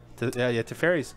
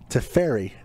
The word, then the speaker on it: Teferi: Teferi, not pronounced Teferi. Teferi? Teferi.